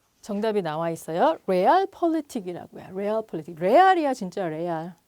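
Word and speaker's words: Realpolitik: 레알 폴리틱. 레알이야 진짜 레알. 영어 리얼은 독일어로는 레얼이라고 발음하나 봐요.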